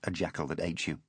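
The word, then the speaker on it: Ajatashatru: thought Ajit Chatru pronounced a jackal that ate you with satisfaction.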